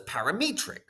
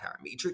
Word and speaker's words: parametric: I used to, for some reason, when I was in high school, I used to pronounce it as parametric. I just thought it sounded better, but of course it's not parametric, it's parametric.